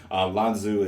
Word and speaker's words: Lanzhu: Also, before I say that, you will hear me switch a lot back and forth between saying Lanzu and Lanzhu. I apologize. Even all this time later, I continue to mispronounce her name, and I've just accepted that I'm just going to have to do better with my life. So Lanzu is how she technically goes by.